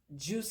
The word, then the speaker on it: Joose: Juice is spelled Joose.